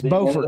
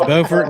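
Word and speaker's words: Beaufort: It's Bowford, not Buford, right? Yeah. No, it's not Buford. That's South Carolina. North Carolina. They're spelled the same. Yeah, it's Bowfort North Carolina. It's Bufort South Carolina.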